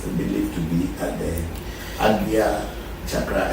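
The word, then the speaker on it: Ajna: at the AGA chakra a lot of people do not know how to pronounce it in Sanskrit they say a chakra but it's not called a chakra the pronunciation is AGA AGA chakra which is the here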